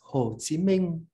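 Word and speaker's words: Hồ Chí Minh: on none other than ho chi minh or pronounced um in a standard vietnamese northern dialect as ho chi minh i grew up knowing him from a southern uh accent as whole and in addition to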